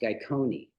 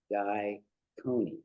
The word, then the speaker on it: Gyconi: So anyway, yeah, I just took Guy, Guy, and it's actually pronounced Gyconi. Oh, okay. Gyconi. So Oh. Gary Gygax, David Marconi, Guy Coney.